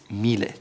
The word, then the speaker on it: Miele: Not Miele or Miele, it's Miele.